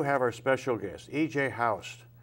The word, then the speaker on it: Haust: Haust. Do I have that pronounced right? Almost. It's Haust. Haust.